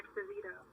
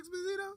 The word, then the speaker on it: Esposito: Didi was trying to say his name is Giancarlo Esposito. Yeah, John Carlo. Didn't I say Exposito?